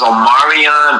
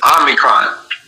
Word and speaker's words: Omicron: they put, they were saying it was Omarion, but in reality it was Omicron, you dumb fucks, go back to language arts, or go back to fucking writing and learn how to spell or pronounce shit, but it's called Omicron.